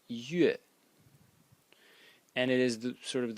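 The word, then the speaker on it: 月: Let me write it separately, which today is pronounced yue, and it is sort of the moon in the sky.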